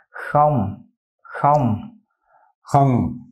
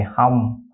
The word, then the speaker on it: Không: Không, không. Không, không. Mm-hmm. A lot of Vietnamese people just drop the K and they say hum, hum.